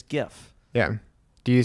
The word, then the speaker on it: GIF: Why do I say that with a J? But it's definitely a G. Like it's GIF.